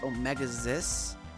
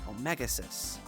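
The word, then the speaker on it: Omega-Xis: Although the website says it's pronounced Omegas, the alien uh the not the anime pronounces it Omegas.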